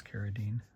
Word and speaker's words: Carradine: Carradine or Carradine. The proper pronunciation is Carradine.